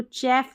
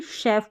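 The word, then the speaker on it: chef: पढ़ा जा रहा है अब यहां पर शेफ जो स्पेलिंग है शेफ तो यहां पर सी एच का उच्चारण श के रूप में इसको चेफ नहीं पढ़ेंगे शेफ पढ़ेंगे तो तीन तरीके से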